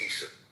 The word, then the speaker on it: Isa: Well, actually, they pronounce it Isa. The Muslims pronounce it as Isa, not Esau. It's Isa.